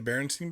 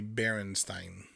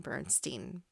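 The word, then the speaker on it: Berenstain: That's how I remember seeing Bernstein bears. Okay. But it's Stain. A I N.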